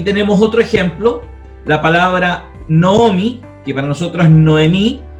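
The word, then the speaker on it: נָעֳמִי: Tenemos el Hatef Kametz adelante del Kametz. Entonces, automáticamente, si nosotros vemos una palabra escrita así, entonces nosotros tenemos que decir, ah, ok, esto entonces es una O y no es una A.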